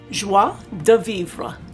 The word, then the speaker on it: joie de vivre: the website and the name of this kit is pronounced in french joi de vivre you know i haven't